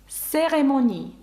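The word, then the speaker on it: cérémonie: і ну і ю яке наприкінці ви бачите читається к с серемоні церемонія серемоні та навіть знову ж таки наша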